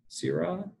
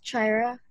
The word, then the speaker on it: Kyra: you pronounce your name is it Syrah its Kyra Kyra okay great thanks Tyra